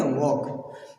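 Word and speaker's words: walk: वॉक लिखा है, वॉक नहीं पढ़ेंगे बेटा, वॉक इसमें पहले तो एल भी साइलेंट है, वॉक पढ़ेंगे, इससे क्या पढ़ेंगे, वॉक।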